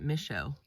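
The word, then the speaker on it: Michaux: day two at uh misho State Forest I think the Rangers pronounce it Michelle I always learn different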